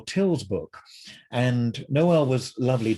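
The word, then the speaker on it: Tyl: dramatic noel till and a lot of people don't know how to pronounce his name and he would it would drive him crazy if people called him knoll and he'd say noel and then i've heard people call him tile uh and you know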